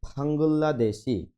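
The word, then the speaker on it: 방글라데시: রয়েছে প্রথমে দেওয়া আছে ফাঙ্গুল্লা দেশি উচ্চারণটা হবে ফাঙ্গুল্লা রিউলের পরে রিউল আসলে লয় লয় যুক্ত হয় ফাঙ্গুল্লা দেশি বাংলাদেশ খাম্বোডিয়া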